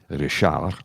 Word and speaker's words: Richard: go that's Richard but because it's French they pronounce it rishar on Quebec yes and in New